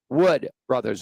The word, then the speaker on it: Wood Brothers: in and I mispronounced I said the woods as in W DS brothers and it is Wood Brothers it was my mistake